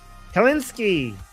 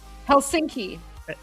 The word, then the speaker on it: Helsinki: Helinski. Helsinki.